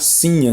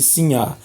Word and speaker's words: sinhá: vitória ou cinha né não tenho acento no ar da palavra assim ah então nós devemos produto pronunciar cinha né em vez de sim ar né se minha vitória provavelmente